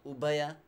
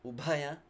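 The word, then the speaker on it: ubhaya: while we are sitting oppaya not obeah but upaya yes more respiration &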